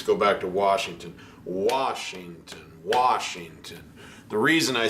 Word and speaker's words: Washington: But on Washington, it's Washington, Washington. You want to think the emphasis is on that first note. Washington, Washington, Washington.